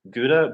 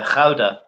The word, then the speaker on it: Gouda: is my one and only favorite cheese it's Gouda but it's actually pronounced how about I found out so there's some like um Dutch cheese that's yeah yeah yeah yeah yeah the howdah jeez are weird what are the hidden symbols